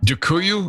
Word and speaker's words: Dziękuję: Dziękuję, I think is how you say it, but I'm not really sure.